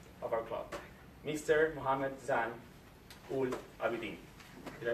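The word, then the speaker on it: Zain Ul Abidin: Mohammed Zan Ul Abidin. Did I pronounce it right?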